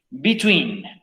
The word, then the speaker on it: between: Si bien esta palabra tiene puras E, se pronuncia como si fueran puras I. Between.